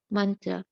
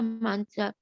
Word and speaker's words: mantra: line of devotion maha mantra maha means um great and mantra means secret chant for deliverance of all mantras in the vedic vedas one is called the maha mantra or great rhymes with drama are sanskrit words hare